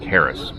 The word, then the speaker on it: Aerys: Most people around here call me Aerys, but where I come from, it's pronounced more like Harris.